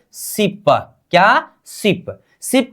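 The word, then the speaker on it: 십: हम यहां पर 10 को क्या बोलेंगे, सिप का मतलब 10 हो गया ना हमारा, इसका उच्चारण क्या करेंगे, सिप।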